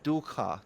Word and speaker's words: dukkha: Traditionally, dukkha. Dukkha is how we would pronounce it in Pali.